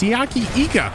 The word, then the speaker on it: Siaki Ika: been handed to note we've been saying siaki ika's name wrong all along it's siyaki IGA and Ika causes a